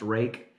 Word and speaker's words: Ruike: into these knives this company rake Rui ke pronounced rake they contacted me and